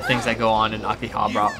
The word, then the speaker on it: Akihabara: that go on in Akihabara aki hot but akiba i can't pronounce the full name right now it's Akihabara I took jack and